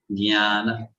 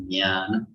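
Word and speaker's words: jñāna: Jnana. Yeah, you know that sound, yeah, that sound comes. So that is jnana.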